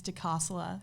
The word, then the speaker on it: DiCosola: doing good um that Italian last name is deasa so there we go but my middle name's